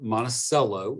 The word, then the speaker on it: Monticello: born in monticello george monticello is how you pronounce that monticello georgia in 1881